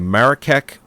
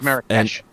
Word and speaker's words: Marrakesh: The film's animal trainer went looking for a blue-eyed camel in the Marrakech market. I think I pronounced that right. And one. I think it's Marrakesh.